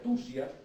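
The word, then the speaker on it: θυσία: Esta palabra, mire, se pronuncia tusia, pero quiere decir o significa literalmente matar con propósito.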